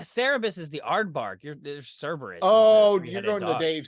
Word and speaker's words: Cerberus: There's Cerberus. Oh, you're going to Dave Sims. Yeah. I keep thinking Cerebus is the three-headed dog, but I think I'm mispronouncing. No, that's Cerberus, dude.